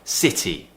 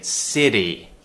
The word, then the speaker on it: city: thing here is that you don't pronounce it as a d which is what Americans do they would say city city city British English city city TT so make sure you